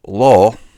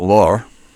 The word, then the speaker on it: law: So it's law in English, not law. Giving it kind of two syllables, almost like a diphthong.